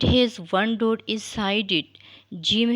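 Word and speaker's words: ج: one dude is sided Jim has a long light sound it is pronounced from the middle of the tongue and roof of the top of mouth so you can read after me Jim read once again right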